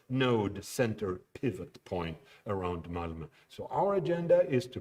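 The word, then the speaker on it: Malmö: it's pronounced if you didn't know whoever and malmo that's how that's pronounced i'm going to skip to the next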